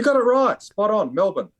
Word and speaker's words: Melbourne: It Rock spot on Melbourne Melbourne but it's so the second syllable is kind of crushed against Melbourne see Simon